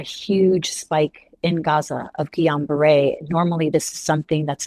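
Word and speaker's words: Guillain-Barré: So, is it Gillan Bear syndrome? Is that how you say it? Yeah, it's something called Gon Beret. Oh, Gon Beret.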